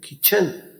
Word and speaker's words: kitchen: यहाँ पर T silent है, यानी टी खामोश है, टी की आवाज नहीं है। स्पेलिंग में आपने किचन के यही स्पेलिंग याद रखने हैं, KITCHEN, किचन।